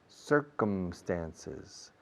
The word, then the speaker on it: circumstances: Circumnavigate, circumference, circumstances, David Beckham, Julio Medem, Always we close the mouth with the M in English.